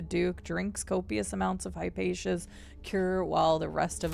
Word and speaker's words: Hypatia: Alexandria Hyponia.